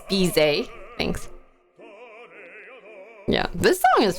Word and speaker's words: Bizet: Bidet with a Z. Bizet.